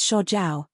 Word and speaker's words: Sha Jiao: how could sha Jiao my name is sha jaao which has the same pronunciation as desert I was born and